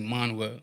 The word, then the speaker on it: Manuel: your partner right yeah his name is actually manwa manuel yeah manuel um he's spinach so he's pronounced with that mm-hmm seth manuel zeppelin